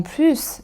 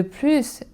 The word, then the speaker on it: plus: Et enfin pour les connecteurs logique comme en plus ou de plus, on prononce aussi le s. En plus, il pleut, de plus, il y a du vent.